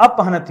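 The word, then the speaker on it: अपह्नुति: रखेंगे इसी तरह से अपन अ अपन हुन नहीं होता है दोस्तों अप अप हनती होता है क्या होता है दोस्तों अप हनती ठीक है क्या होता है दोस्तों अब यह आधा ह होता है तब जाके न होता है यही गलती दोस्तों हम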